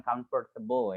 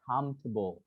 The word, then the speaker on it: comfortable: Terus selanjutnya pronunciation-nya bukan comfortable ya. Pronunciation-nya adalah comfortable. Ya, comfortable. Jadi bukan comfortable.